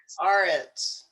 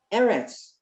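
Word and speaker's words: ארץ: How do you say the land of Aretz. Israel? Aretz. Eretz. Eretz.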